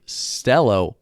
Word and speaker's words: Celo: where everyone can prosper cello pronounced stello means purpose and esperanto i did not know